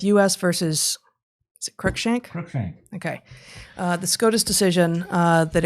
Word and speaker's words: Cruikshank: Cruikshank.